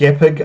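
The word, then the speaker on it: GIF: typic it was pronounced it's pronounced epic I'll have you know because the G the J is a hard G the novelty in the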